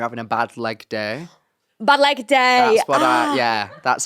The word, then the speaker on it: Balegde: Okay, how do you say your surname? Remind me. Balegde.